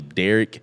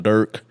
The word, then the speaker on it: Durk: his name Dirk then I always thought that his name was possibly Derek and it was just somebody that was just talking to quick they call him Durk Durk and then they just